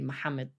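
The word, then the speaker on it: Maxamed: Nim yeah so and there was an X for a ha so the name Muhammad they spell it with an X rather than H and Muhammad yeah how how you that m m ax a m i d Muhammad yeah or Muhammad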